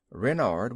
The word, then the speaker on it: Renard: is King Renard IV Renard with the accent on the ren what's Ren asked Buton